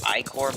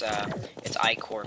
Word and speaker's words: Ichor: I know it's pronounced Icor, but I just say Ichor kind of to annoy people, and just because that's how I've always pronounced it. Obviously, I do know it's Icor, but I do call it Ichor.